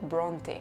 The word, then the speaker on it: Brontë: Pues esa diéresis nos dice que hay que pronunciar esa E final, que no es muda, como sí lo son la mayoría de las E finales en inglés.